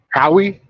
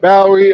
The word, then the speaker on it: Bowie: Howie. It's spelled exactly the same. So yeah, of course, me being the intellectual that I am, go okay. Howie spelled like Bowie.